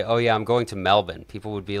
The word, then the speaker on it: Melbourne: the chat makes me think of the city Melbourne Australia local say Melbourne and if I like if I'm chatting with somebody and I say oh yeah I'm going to Melbourne people would be like where's that M like